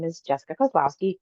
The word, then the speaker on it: Kozlowski: right so um Jessica I pronounced your name Koslowski yes but you have a